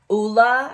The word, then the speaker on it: Ole: to try these I right now have the Oola I've been told that's how it's pronounced OA henriksson one and I really really